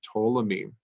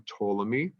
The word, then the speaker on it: Ptolemy: by the name of Ptolemy they don't pronounce the P but please write down Ptolemy and told him he